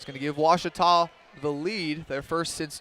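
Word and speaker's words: Ouachita: Searching for Washita Baptist University. Back in Texas, everybody pronounces it Wichita, but really, it's Washita.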